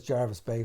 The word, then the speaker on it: Jervis Bay: the name jarvis but generally i think in the uk it's pronounced jarvis like berkeley or darby and i heard it first as jarvis bay from my dad so